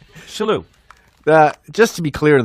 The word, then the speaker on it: Shillue: Today we're with a very, very close friend of mine, Tommy Shillue. Tim Sherrod. You're pretending you don't know. It's Shillue. Shillue.